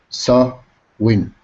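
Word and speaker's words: Samhain: harvest season with a festival called Sam hyen pronounce s win good good so they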